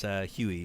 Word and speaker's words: Huey: So Joe's saying it's Huey, rhyming with Louie and Dewey. Okay, Huey Win.